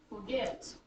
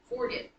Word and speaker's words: forget: syllables right two syllables the first one is not accented so it's going to do this so you're going to hear um what are some words say forget if we said it the wrong way if we flipped it and accented the first syllable it'd be forget and you're laughing because we just don't say it that way it's turning the rhythm